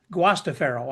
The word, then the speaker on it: Guastaferro: Guastaferro, I guess, actually is the way you pronounce it in the Italian way from what he tells me.